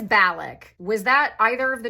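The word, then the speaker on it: Balak: a named Bal no Bic I googled this and now I'm embarrassing myself hang on it is balic was that either of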